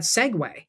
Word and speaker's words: segue: and then said, "Oh, we're going to pronounce that Segue."